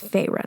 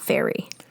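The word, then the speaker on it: Feyre: But I will say Farah because I do know it's Farah now, not Fairy.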